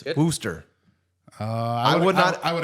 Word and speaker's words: Worcester: more like Worcester, but Worcester. we'll give the credit for Worcester, it. but it's not Worcestershire like it looks like.